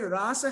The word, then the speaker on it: rasa: in Sri ramananda here the word rasa has a long a and it indicates ashwadan